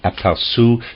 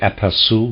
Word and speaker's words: aperçu: indeed connected with the aperçu to which I was referring.